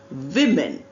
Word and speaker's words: women: Look at the spelling. No change in wo. Changes in m a becomes m e. But pronunciation women. V men.